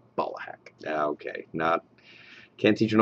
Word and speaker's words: Ballahack: He's like, you say it like it's like balls, like Ballahack. That's how it's spelled, B-A-L-L. But it's Ballahack. Ballahack.